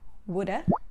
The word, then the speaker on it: would have: have in spoken english we replace have with a sound the most common uh sound in english uh so it becomes coulda shoulda for example i would have done that now repeat after me okay coulda woulda shoulda you should have eaten